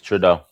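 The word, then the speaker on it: Trudeau: that how you say his name trau yes trau okay trau that Canada has failed the US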